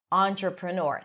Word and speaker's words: entrepreneur: also just the letter E as in entrepreneur or entree, right? Words that are loan words from French. So even though it's spelled with E, it's a entrepreneur.